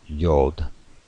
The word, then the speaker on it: Yod: Ehyad, or Yad, or Yod, I should say, rhymes with road, which we transliterate as a Y.